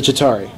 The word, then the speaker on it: Chitauri: The Chitauri.